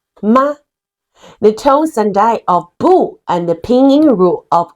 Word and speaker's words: 不: Pronounce as bu. When bu is followed by a syllable in the fourth tone, it changes into the second tone, bu.